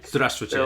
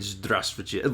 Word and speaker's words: Здравствуйте: And they're Здравствуйте. like Yeah. they're like three little syllables in there that we always miss because we're not thinking about like micro syllables within the syllables.